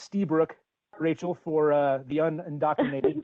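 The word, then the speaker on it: Lstiburek: list burek's perfect wall yeah so um it's pronounced ste brook rachel for uh the undocumented thank you um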